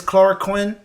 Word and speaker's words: chloroquine: It's chloroquine and hydroxychloroquine. That's how you pronounce it.